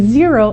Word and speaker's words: Xero: talk about is zero and zero is spelled x-e-r-o we do use zero